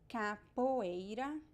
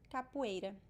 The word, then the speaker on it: capoeira: in this this word the word o can be pronounced as u or o depending on the accent capoeira capoeira or capoeira capoeira i think the